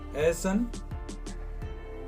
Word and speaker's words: Ahsan: नाम है एहसन, जिसका इंग्लिश स्पेलिंग है AHSAN, एहसन।